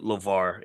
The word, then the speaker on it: LeVar: to support LeVar, and it's LeVar with a V. So when y'all go look him up, make sure. Some people, I saw someone type Lamar. I'll make sure we got to say his name right.